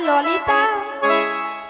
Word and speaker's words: ললিতা: বলে লালাই লালাই ললয় ললয় লালাই লালাই ললিতা। মাসি কি ওটা লালাই লালাইও নয়, তাহলে? আর ললয় ললয়ও নয়, তাহলে বলো ললিতা। লো লো লো। বলো ললিতা, ঠিকঠাক করে উচ্চারণ করো।